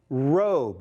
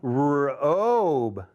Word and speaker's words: robe: That's going to say rob. But if I put that E, there's that clue. It's telling the O to say its name, robe.